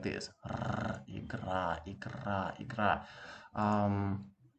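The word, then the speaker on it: игра: Um, whenever you're pronouncing this double T sound, let's say in English, if you're an American speaker, you always pronounce it like this. Better, fatter, getter, and things like that, right? This t, t, t. When you pronounce it fast, it produces a similar sound to this one. R, igra, igra, igra.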